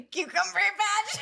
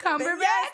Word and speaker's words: Cumberbatch: I'm gonna say Cucumber Patch. Benedict Cumberbatch.